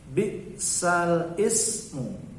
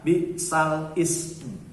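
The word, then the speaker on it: بِئْسَ الِاسْمُ: Perhatikan, yang di garis bawah adalah kata bi'sal ismu. Berarti di sini nakalnya di sini. Di sini naklun, yaitu pada kata bi'sal ismu. Tapi bacanya bukan bi'sal ismu. Walaupun tertulis bi'sal ismu, tapi dibacanya bi'salismu.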